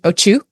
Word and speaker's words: Otyug: Oh, apparently there are different ways to pronounce it. So you could also pronounce it Ochu. O2. Yeah, like O-C-H-U.